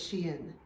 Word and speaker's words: Shein: I think I found out yesterday it's Shein, not Shein. I've been saying it wrong the whole time.